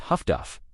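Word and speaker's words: Huff-Duff: The abbreviation was HFDF, pronounced Huffduff, a nickname that made deadly technology sound almost casual.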